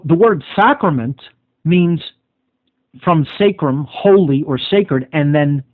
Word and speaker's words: sacrum: Sacrum, it would be actually pronounced.